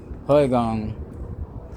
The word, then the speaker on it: Qui-Gon: But I remember now, Qui-Gon, his name is like Qigong, which is an exercise that we do right down the street, y'all.